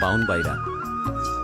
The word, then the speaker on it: ব্রাহ্মণবাড়িয়া: ব্রাহ্মণবাড়িয়ার আঞ্চলিক উচ্চারণ বাউনবাড়িরা।